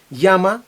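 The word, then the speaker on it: llama: Єна дехенте ямалаполісія порфавор яма знову ж таки подвійне л читаємо і вимовляємо як йод яма дзвони викликай поліцію будь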